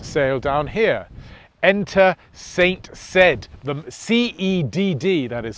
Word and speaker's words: Cedd: Enter St Cedd, the C-E-D-D that is spelt.